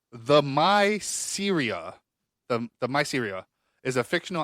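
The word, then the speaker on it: Themyscira: Yeah, how do you pronounce this? Them. Okay, if I break it up, it says the Myceria.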